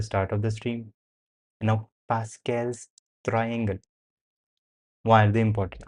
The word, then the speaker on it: Pascal: before that why is Pascal's triangle such a thing why is Pascal's triangle important Like why do we need it? Pascal. Pascal. The pronunciation that we are going to go with is Pascal.